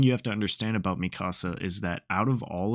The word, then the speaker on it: Mikasa: don't love her or I guess Mika saw I said it wrong I love Mikasa but